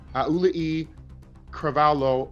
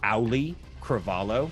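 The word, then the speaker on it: Auliʻi Cravalho: And forgive me for any mispronunciations as I say this, Aulii Cravalho Oli. Sorry, I'm gonna help you there. It's just Auli Cravalho.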